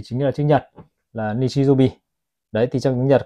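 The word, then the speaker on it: 日曜日: Và cuối cùng là tiếng chủ nhật thì chính là chữ nhật là nichijobi.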